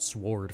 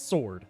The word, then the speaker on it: sword: I said sward for some reason just now, which I think is the opposite of what I'm supposed to be doing in this situation. It's It's sword. There's There's a silent W.